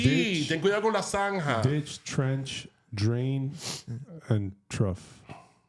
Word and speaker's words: zanja: Zanja. Una qué? Zanja. Una zanja. Zanzibar? Like... Careful, you don't fall in the Zanzibar. La Zanja. Zanja. Oh, la zanja. La zanja. Sí, Ditch. ten cuidado con la zanja.